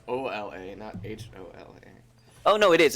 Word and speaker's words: hola: do you pronounce it hola well me and then I guess it's the same issue as with the T that the H is very soft it's all la like